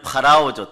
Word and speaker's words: 파라오: 그런데 재미있는 사실은 세 번째 재앙이 다 지나가기까지 바로는 원래는 파라오죠. 따라요. 파라오. 중국식 발음으로 바로예요.